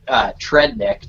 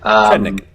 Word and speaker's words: Tredenick: Jeremy, I pronounce it Trednick, Tredenick. All right, Trednick.